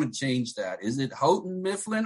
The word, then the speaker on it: Houghton: change that is it houghton mifflin or howden it's houghton i i just like to say howden mifflin is that well